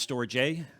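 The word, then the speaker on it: storge: what you're seeing but uh the first is storjay it's pronounced storage a and it's an empathy bond the second is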